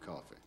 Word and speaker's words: Coffey: Your name is John Coffey. Yes, sir, boss. Like a drink. Only not spelled the same.